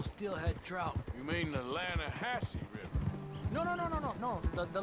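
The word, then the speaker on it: Lannahechee: The other day, I rode down to the Linde River. I caught some beautiful steelhead trout. You mean the Lanahassee River? No. The Linde. It runs right near here. Yeah, but it's pronounced Lanahassee.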